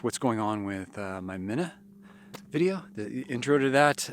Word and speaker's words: Mina: So thank you very much, Jenny, and let's get moving with this video for Mina or Mina. Mina is I guess the pronunciation you're supposed to be using. What the locals use, and I totally botched that up in this video.